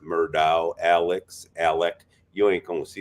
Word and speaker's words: Alex: me last night that even though it has an x on it it's pronounced Alec well everything's funky down